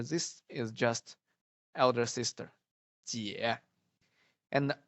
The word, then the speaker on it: 姐: Okay, ji plus ye gives jie. Okay, and then the third tone. Are you sure? 姐.